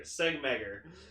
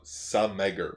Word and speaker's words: Segmeger: Segmeger. No, Sameger. Oh, well, you have a G in there. The G is silent. Oh, really? Okay. Yeah. So it's like, say, Uh-huh. Sameger.